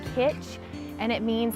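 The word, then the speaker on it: cwtch: I don't even know it's spelled C WI th and I think it's pronounced pitch and it means like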